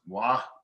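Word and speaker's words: Mgła: It's technically, that's what it looks like in English, but I think it's pronounced wa.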